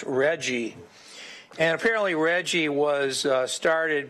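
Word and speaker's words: RGGI: Regional Greenhouse Gas Initiative with the acronym pronounced Reggie and apparently Reggie was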